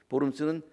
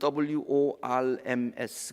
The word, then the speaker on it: Worms: 보름스는 독일 말인데요, 그걸 스펠링으로 쓰면 WORMS 그렇게 씁니다. 영어로 읽으면 worms가 돼.